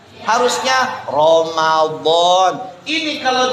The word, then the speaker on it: Ramadan: Ramadan ditulis Ramadhan. Ya, iya enggak? Harusnya Ramadan.